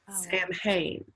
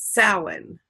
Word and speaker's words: Samhain: It's Gaelic, so it's pronounced completely different than the way it sounds. Samhain. Samhain.